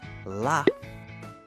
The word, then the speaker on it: laugh: at the end of the word like laugh and cough we often say the g h has an F sound like f aha now